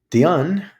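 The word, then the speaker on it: Dehaene: his how we learn Dion he is French that's why you pronounce it that way uh corrects some behaviorist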